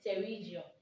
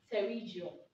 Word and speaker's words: Pterygium: the right pronunciation is terrigio the p is silent so it's pronounced terrigio one big axe is